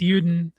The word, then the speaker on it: Juden: You don't know about the Juden? Uden, you mean? Sorry. Whatever. It's Uden.